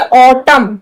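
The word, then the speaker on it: autumn: एम है, एम के बाद क्या? एन, लेकिन हम सिर्फ एम को ही पढ़ रहे हैं, एन को नहीं पढ़ रहे। ये हो गया ऑटम।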